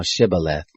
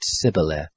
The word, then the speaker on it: Shibboleth: they said to him say now Shibboleth and he said civil f for he couldn't manage to pronounce it right then they laid hold